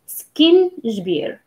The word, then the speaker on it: سكينجبير: If you're going to like think about it as a, as like two words, two separated words, and you pronounce them fast, like سكينجبير.